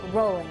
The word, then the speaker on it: Rowling: But you will be moving on in this game if you chose Her name is pronounced J.K. Rowling, and it's plastered all over those 7 books and 8 movies.